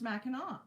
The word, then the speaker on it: Mackinac: And it's pronounced Mackinac.